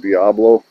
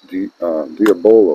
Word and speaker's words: Diabolo: All right, we'll move on to the exact Diabolo. Some people pronounce that Diablo. I'm not sure, but I'm pretty sure that I was corrected once a long time ago and told that it was Diabolo or Diabolo.